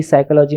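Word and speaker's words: psychology: कुछ लेटर सोते हैं जैसे पी साइकोलॉजी में साइलेंट होता ऐसे धन में भी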